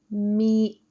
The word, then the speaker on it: Miércoles: Miércoles. Miércoles. Miércoles. That's Wednesday. Notice the accent mark over the first E that simply tells you that you should put a stress sound over that syllable.